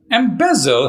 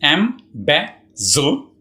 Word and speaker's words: embezzle: Embezzle has 3 syllables, embezzle, and the second syllable, be, is stressed. So you say embezzle.